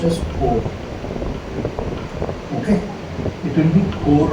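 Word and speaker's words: corps: Then it is written as box, but it is pronounced as core.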